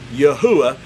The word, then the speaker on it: Yahuwah: assured of the fact this is the way yahuwah is how his name is pronounced now we're going to